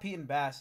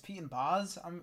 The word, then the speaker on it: Pete & Bas: It's not Pete and Bass, it's Pete and Boz, apparently.